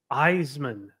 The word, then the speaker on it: Isaman: is it again um my last name is pronounced eisan Eisman yeah okay eisan